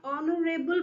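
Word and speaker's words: honourable: एच तो silent हो गया, ऑनरेबल बोल रहे हैं आप, है ना, तो ओ की आवाज आ रही है ना, ऑनरेबल।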